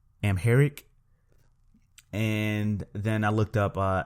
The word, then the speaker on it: Amharic: AR I see I'm going to try to pronounce it Amharic Amharic and then I looked up afro-asiatic and it